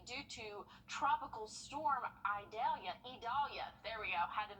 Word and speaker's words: Idalia: going to be due to Tropical Storm idalia idalia there we go had to make sure I pronounce that right tropical storm idalia so it's